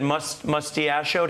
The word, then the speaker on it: mustachioed: Now, you mentioned as well, Malcolm, you said mustachioed. How do you pronounce it?